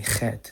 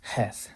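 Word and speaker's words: חית: That's why they say chet instead of heth, because it's because of Ashkenazi Hebrew. But in chosen Hebrew, it's a lot softer. It's heth. So like, for example, the word for like wind, ruach, ruach.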